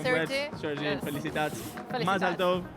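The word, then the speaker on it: מזל טוב: Mazal tov.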